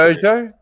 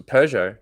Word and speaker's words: Peugeot: oh hugo okay yeah it was the way you were pronouncing pojo that's a peugeot okay i forgot that's